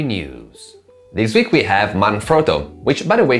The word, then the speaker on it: Manfrotto: this week we have manfrotto which by the way should be pronounced manfrotto as that was the last name of its italian founder but anyway this week